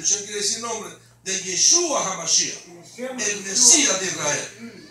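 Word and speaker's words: ישוע: Y en hebreo, diga conmigo, Yeshua. Yeshua. Yeshua. Así que usted puede orar en inglés, puede orar en español y puede orar en hebreo también. En de Shem, Shem quiere decir nombre, de Yeshua HaMashiach, el Mesías de Israel.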